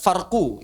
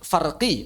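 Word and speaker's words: فرقي: Bukan mad farqu itu keliru. Bukan farqu ya. Cara bacanya kurang tepat. Mad farqi atau almaddul farqo pertama dalam bahasa Arab tidak membaca tidak membaca harakat akhir. Yang kedua kalau kita bacanya mad maka bukan farqu tapi farqi.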